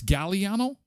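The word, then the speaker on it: Galliano: I think it's vanilla gilliano is it a hard g g it's gallano oh that does sound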